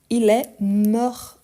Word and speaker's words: mort: La prononciation, oui, il manque une lettre. Donc, il est mort, mais mort avec T.